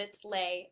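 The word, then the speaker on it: Leih: little e i h it's german but it's pronounced dutch but it's lay l-e-i-h-l-l-c dot com and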